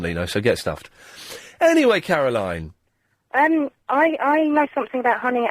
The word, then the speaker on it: Caroline: Caroline. What's the difference? It's spelled differently.